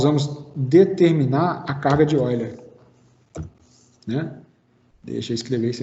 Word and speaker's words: Euler: Então, Euler alemão, né, me informaram que a pronúncia certa seria Euler.